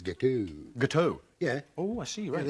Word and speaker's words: gâteau: think you'll find it's gâteau. Gâteau? Yeah. Oh, I see, Yeah, right. the X is silent.